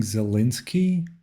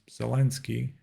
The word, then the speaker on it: Zelensky: what's with the um some people are pronouncing zelinski and some people are saying zelensky of course the correct thing is zelensky i guess it's because because of the that would be the yeah that would be the kind of intuitive way to pronounce it if you're if you're an english speaker right them to not